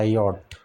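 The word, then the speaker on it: yacht: एन ए L colonel और यट होता योट वाई ए सी एच टी यट होता है।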